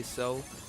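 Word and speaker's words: Xel: I say Zell, people say Cell, but the only reason why I say Zell is because of how, you know, X's are pronounced as Z sometimes.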